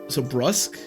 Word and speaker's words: brusque: Oh, rhymes with tusk? So brusque?